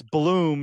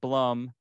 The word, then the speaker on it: Blum: by the way it's it's Bloom not Blum for those people right